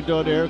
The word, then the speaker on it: Donaire: pronounce this name differently but we go by donaire because that's the way he pronounces it left this country at age 10